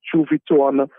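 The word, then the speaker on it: Juviton: that I want to talk about is the chu viton conic the name is Chu viton and that is spelled as j u v i t o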